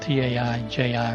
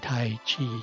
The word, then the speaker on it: Taiji: systems of Tao and Tai Chi, because it's Ji, not Chi.